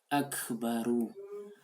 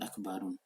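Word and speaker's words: أَكْبَرُ: Akbaru. Tidak pernah disebut Akbarun.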